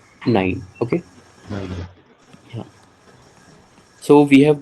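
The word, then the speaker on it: nein: You have to pronounce nine.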